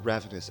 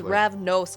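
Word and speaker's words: Ravnos: mean i'm hungry too rav ah nose it's yeah it's pronounced ravenous uh your accents guys no it's rav nose guys come on haven't you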